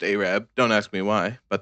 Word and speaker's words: Arab: make our way through the small town of Arab, Alabama, located at the intersections of highways 67 and 69. Anyways, it's spelled like Arab, but pronounced Arab.